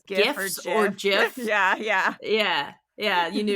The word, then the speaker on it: GIFs: sound, so it would be GIFs, not GIFs. And whoever's saying GIFs is wrong, because that stands for graphic, and it's graphic like a G sound for sense. graphic. So there's no reason to pronounce it. Like, I know sometimes G's can have a J sound, but not in that case.